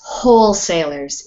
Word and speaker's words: wholesalers: In this one is wholesalers. It sounds like H. The W is silent.